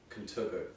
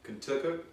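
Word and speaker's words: Contoocook: It's actually Contacook, New Hampshire. Yes, that's how I said it. No. Contacook, New Hampshire? That's the exact pronunciation I used.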